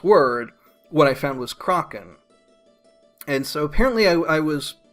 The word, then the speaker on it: kraken: and produce the last episode that it's not pronounced krey-kin and the Americans that I talked to my